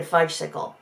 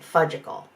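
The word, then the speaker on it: Fudgsicle: sense then mama said i need a fudgesicle pronouncing it fudgical the same way kaylee had as a little kid you no thanks kaylee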